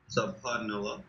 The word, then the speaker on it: Subhanallah: So you may have to rewrite it to make sure that you can get the right pronunciation, okay? So let's try it again. Subhanallah.